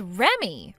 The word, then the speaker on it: Remy: Uh, do you read that as Remy? Huh? You're supposed to read that as Remy. Remy? So, your name is Remy? It's spelled Re, but you read it like Remy.